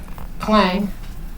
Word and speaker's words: Clang: There's another one called Clang.